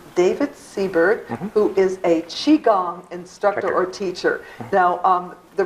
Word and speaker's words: Qigong: can pronounce it several ways it's yes it's pronounced Qi Gong it's spelled different ways there's not a universal